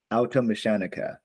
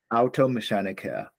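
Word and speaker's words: Automechaniker: Automechanica. Beautiful. Yes. Automechanica.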